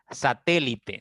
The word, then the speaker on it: satélite: tilde siempre ya siempre satélite satélite tiene cuatro sílabas la mayor intensidad está en la tercera sílaba ya no importa en